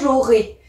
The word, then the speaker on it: j'aurai: j'ajoute la terminaison j'aurais attention ça s'écrit ai mais ça se prononce bien j'aurais sinon on peut confondre avec un autre temps donc j'aurai ai comme